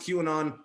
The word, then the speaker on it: QAnon: all those queerin on conspiracy I know it's pronounced qanon but I want to take the duration derogatory